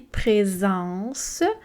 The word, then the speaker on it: présence: Ici, présence. On a un S entre 2 voyelles.